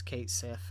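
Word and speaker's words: Cait Sith: for is Kate Sith I know that's not how you pronounce his name at least not um according to the Japanese Lang uh Japanese dictionary or whatever but that's how I think everyone pronounced it as Kate s uh is essentially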